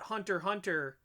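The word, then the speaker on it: Hunter × Hunter: the weird thing about hunter hunter for example is that that's actually how you're supposed to pronounce it it's uh the x is silent um so it's there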